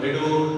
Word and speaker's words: അടൂർ: അവിടെ അടൂർ എന്നതിന് ഉച്ചാരണം എടൂർ എന്നാണ്.